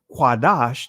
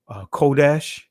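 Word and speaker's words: קדוש: So when we understand Quadash, that's the Hebrew word, ancient Hebrew word for holy, I know many of you guys would say Kodesh. That's getting into the Israeli, the influence of the Israeli language, because there was no O sounds in ancient Hebrew.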